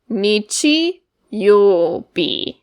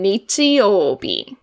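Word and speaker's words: 日曜日: going to teach today, we read the first one as nichi, and we have yo in the middle, and the last one is bi. Nichi, yo, bi. So nichi for the beginning, and then yo, bi.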